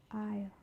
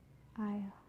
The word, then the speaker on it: aisle: For the letter S, it can also be silent. For example, island, island, debris, debris, aisle, aisle. So that's for the letter S.